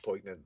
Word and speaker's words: poignant: So I don't even think you're pronouncing poignant that wrong. You got me saying it the Poignant. way you are now. I Yeah, quit saying poignant, it. Don't don't poignant, don't pronounce the G, man.